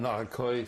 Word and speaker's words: Arcueil: Pronounce the city where you were married? Oh, in Arcueil, France.